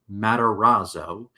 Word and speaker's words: Matarazzo: seventh grade girl named Dawn played by Heather Matarazzo.